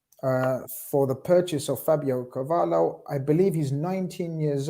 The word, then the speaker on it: Carvalho: Personally, it's Fabio Carvalho, but yeah, Carvalho is fine.